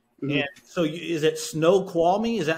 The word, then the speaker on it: Snoqualmie: you're six six right yeah so is it snow qualming is that how you pronounce it yeah Snoqualmie okay snow qualming so six six uh offensive